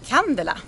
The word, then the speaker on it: Candela: Candela. Candela. In Swedish. Okay, Candela. But we don't really care how you pronounce it as long as you know about it and know about the boat.